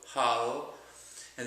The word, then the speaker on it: jala: okay the L in Spanish is pronounced quite similar to the English L like is in Lu or Lucy so Hal and then the a again so Hala remember the a again is always pronounced as a so Hala and we're going to pronounce that just by itself Hollow right and for the